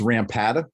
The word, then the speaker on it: Rampata: don't butcher it uh it's rampata rampata uh pronounced uh phonetically as it's written um i like it